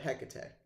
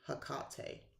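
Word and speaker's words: Hecate: not hell maybe but HEC or some people say hak it's however you want to pronounce it um she understands all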